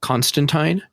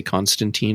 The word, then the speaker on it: Constantine: So, uh Constantine, which by the way, they're saying the name wrong on the show. they say Constantine on the show, but the character's name is Constantine.